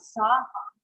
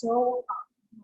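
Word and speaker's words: सोऽहम्: It's not sa-hum, it's so-hum, right?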